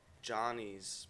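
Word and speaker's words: Gianni's: Oh, it's this place called Johnny's, but it's spelled Gianni apostrophe S, and it's over in like the that Clinton Hill area.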